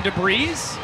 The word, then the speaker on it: debris: out and clear some debris. Another front door bender. Did you just pronounce the S in debris?